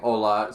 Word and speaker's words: hola: have wisconsin ola uh saying hola spelt correctly the h is silent feinstein sorry i don't